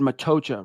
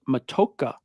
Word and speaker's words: Matocha: I said Matocha, right? He's saying it's pronounced Matoka.